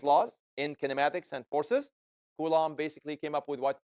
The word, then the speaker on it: Coulomb: It's a French name. Coulomb. The B is silent.